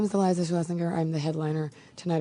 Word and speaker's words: Schlesinger: Is it Schlesinger or Schlesinger? Schlesinger. Okay, I've actually been saying it wrong.